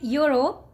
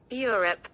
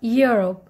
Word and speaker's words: Europe: people they call it Europe Europe they they just start with e but no this word is starting with e but you have to while pronouncing you have to start it with Y okay Euro Euro Europe